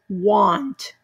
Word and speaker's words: want: that letter for example this one is not going to be the ah it's gonna be want do you see how it